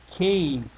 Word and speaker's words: cave: this is the word cave I know that I need a long a there because of this e here so I'm going to